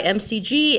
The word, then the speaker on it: McG: Um, directed by MCG and written by Zack Stence.